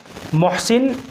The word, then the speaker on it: محسن: محسن بڑے ہا کے ساتھ، یہ اس کا صحیح تلفظ ہے۔ سب سے پہلے آپ